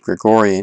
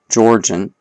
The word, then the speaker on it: Georgian: I said Gregorian, it's actually Georgian.